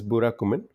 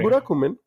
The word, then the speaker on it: Burakumin: So I hope that's how at least I'm trying to spell it out. It's Burakumin.